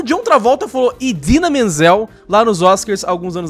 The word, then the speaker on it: Idina Menzel: The iconic and brilliant Idina Menzel, pronounced exactly as it is spelled, is our Elsa.